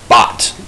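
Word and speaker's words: baht: Thailand they Cur there their currency is bot b a h t that's how you spell that their currency is called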